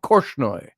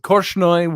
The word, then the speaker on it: Korchnoi: Let's see, how do you pronounce his name? Korchnoi.